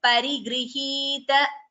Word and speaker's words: परिगृहीत: Please note the pronunciation of that word. Parigrihita. There is no extra. Bharadwaja Shasana Parigrihita Vichitra Chitrakootagiri Kataka Tata Ramyavasatha. You are chanting Parigrihita, Bhagini. You are chanting an extra G.